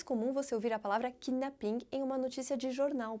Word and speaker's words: kidnapping: Mais uma vez, a sílaba forte vai ser a sílaba final, kidnapping, com uma forte pronúncia do P, kidnapping, diferente de kidnapping em inglês. E mais uma vez também, os franceses capricham no som do G, kidnapping, sendo que em inglês ele praticamente desaparece.